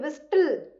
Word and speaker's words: whistle: We are not saying whistle, right? Here T is silent. It is pronounced as whistle.